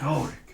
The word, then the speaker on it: Golric: The G is silent. Maybe there's 2 G's? Yeah, Golric. it's like phonetically it's Golric, but ain't nobody got time for that.